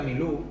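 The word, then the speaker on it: מִלּוּא: en el significado 4394 se pronuncia mi luz también veremos el 4390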